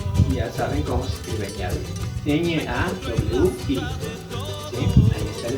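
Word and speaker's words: ñawi: Ya saben cómo se escribe ñavi. N-A-W-I. ¿Sí? Ahí está la escritura y la pronunciación es ñavi. La W se convierte en una especie de B.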